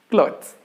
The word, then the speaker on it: clothes: one that is clothes clothes here there are only there is only one syllable clothes whether even though there